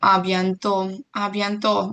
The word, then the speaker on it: à bientôt: До скорого мы говорим à bientôt, мы не читаем букву Т, и переда у нас стоит акцент граф, сильное ударение. До скорого и береги себя.